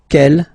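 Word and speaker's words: quel: way to pronounce them Kel masculine form here will be pronounced exactly as the feminine form here G so only one sound okay and then the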